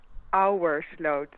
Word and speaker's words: Ouwersloot: Ouwersloot, which is pronounced Yeah. as Our slot.